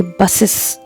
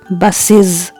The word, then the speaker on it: buses: In the same way, if you say buses, that's incorrect. It is buses.